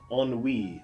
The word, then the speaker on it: ennui: drollery ennui boredom Tetum note the pronunciation ennui is from the French and keeps its French pronunciation unweave is a feeling of